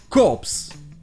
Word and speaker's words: corps: un e à la fin et le pay prononcé cops donc quand c'est un corps militaire et corse